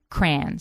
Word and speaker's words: crayon: I call them crayons now, but I grew up calling them crayons. C R A N. Like cranberry. Crayon. One syllable.